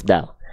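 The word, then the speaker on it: دال: inilah pelafalan huruf Dal jadi si ujung lidah kita disentuhkan ke Pangkal gigi seri atas kita bukan ke Giginya ya tapi ke gusinya bukan ke giginya tapi ke gusinya sehingga ketika dilafalkan pelafalannya seperti ini izin da di du u add iddi uddu seperti itu huruf Dal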